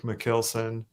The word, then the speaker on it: Michielsen: Alexa's over there, but yeah, so I pronounce my name like Michielsen, more like a kill, even though it's actually a Dutch name.